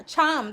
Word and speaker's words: Thiam: Th- Thiam, that's how you say it.